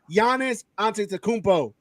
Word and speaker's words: Giannis Antetokounmpo: You're saying the pronunciation of the players right. It's Giannis Antetokounmpo.